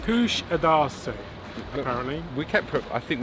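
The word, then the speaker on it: Kuşadası: of the stand kusadasi Kush adasi apparently we kept I think we've been pronouncing it wrong but that is the correct well that is the pronunciation that the guide was using and she's Turkish so I assume she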